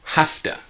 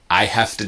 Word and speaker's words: have to: have to do it some students don't understand this and they say I have to buy I have I have to go using the V but really it's an F so try with me